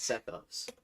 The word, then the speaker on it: Sethos: fit sethos okay that's how you say it sethos so we're free to EXP I mean I'm